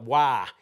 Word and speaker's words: War: is a male Crow which they pronounce it looks like War but they pronounce it like wah like the crow making the noise w w that kind